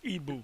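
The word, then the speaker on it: Igbo: the igu tribe is our people the it's pronounced Ebu euru tribes are the 10 kingdoms we are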